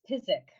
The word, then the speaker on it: Tzizik: It's Tzizik. Tzizik. Silent Z. Yeah. In the old country, it was Tzizik, and some are Tziziks and some are Tziziks, but we say Tzizik.